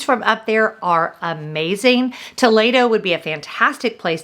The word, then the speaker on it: Toledo: next up too late oh now it's not pronounced Toledo I learned that the hard way it's pronounced Toledo and I ate at Toledo with my great